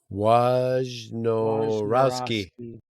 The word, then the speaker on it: Wojnarowski: I'm definitely not pronouncing that. Wojnarowski.